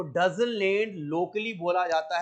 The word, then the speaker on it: डजन लेड: इसको local language में डजन लेड, DAZAN डजन लेड, और DAZAMLAD डजन लेड। सिर्फ स्पेलिंग में फर्क है, किसी किताब में M लिखा, किसी किताब में N, मगर ज्यादा ऑथेंटिक डजन लेड है।